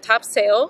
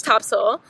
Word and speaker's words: Topsail: Heather you got it this time so we are at Topsail Beach I learned my lesson I called it Topsail because that's how it's spelled but apparently it's Topsail so we are in